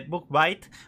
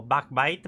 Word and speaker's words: Bugbyte: lo que nos está planteando la empresa de book bites o back bite mejor pronunciado en su kickstarter presentaron una demo en